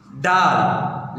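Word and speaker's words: ڊ: डाल लिखा हुआ डाल है लेकिन इसके प्रोनाउंस यानी कि तलफ़ जो है इसका आता है डे पढ़ते हैं, लेकिन ज़्यादातर अक्सर जो है इसका हम प्रोनाउंस कर रहे होते हैं डाल पढ़ रहे होते हैं, लेकिन इसका तलफ़ जो सिंधी में होता है डे, डाल पढ़िए डे, दाल के ऊपर तीन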